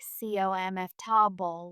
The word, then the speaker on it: comfortable: In natural English, comfortable often sounds more like cf to bowl with the middle syllables shortened or vegetable sounds like vjab ball, not vgl with each syllable pronounced clearly.